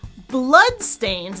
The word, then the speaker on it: bloodstains: But the word bloodstains is great. The first syllable is nice and long.